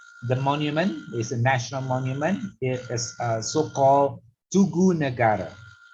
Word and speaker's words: Tugu Negara: It is so-called Tugu Negara. Tugu Negara. Tugu means 2-syllable and Negara 3-syllable.